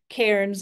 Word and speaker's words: Cairns: But I have an aunt whose name is Karen, and so it just helps me remember that Cairns is like Karen.